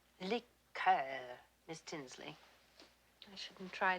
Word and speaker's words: liqueur: i don't care for liquor when referring to a cordial we use the french pronunciation liqueur miss tinsley i shouldn't